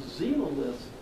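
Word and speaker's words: xenoliths: get melted we call them xenomyths with an x but you pronounce it like a z so zero lifts are something you look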